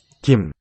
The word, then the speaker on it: 김: 김, So that's the plain letter G, G sound. It'll be lightly aspirated word initially, like this. 김, So it sounds like a K more in this position. If it's between two vowels, it'll be more of a G voice G sound.